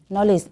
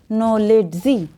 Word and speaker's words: knowledge: তাহলে জ্ঞান শব্দের ক্ষেত্রে বানানে KNOW রয়েছে, অর্থাৎ নো লেস, LEDGE, নলেজ। এখানে ডিটা অনেকে আবার পড়ে থাকে নো লেডজি, তাই না? লেডজি কিন্তু না, লেস। তবে এখানে ডিটা সাইলেন্ট থাকবে, ডির উচ্চারণ হবে না।